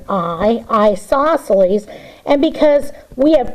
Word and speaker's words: isosceles: Now, it's not spelt with the word I, but you pronounce it with the word isosceles.